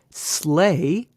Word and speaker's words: sleigh: The A, E-I-G-H, sleigh, as opposed to I-G-H in right.